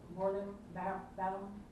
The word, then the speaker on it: valorem: The municipality reserves all rights to impose on the applicant all ad valorem, how do you pronounce that, Donnie?